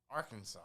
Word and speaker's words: Arkansas: say it like arkansas you have to say it with some some some some twang at the end arkansas but especially arkansas and